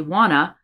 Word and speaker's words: wanna: Instead of want to, we say wanna, and then go to lunch.